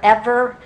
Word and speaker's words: Eber: that far today but the word eber there e-b-e-r or ever in the hebrew pronunciation it probably was a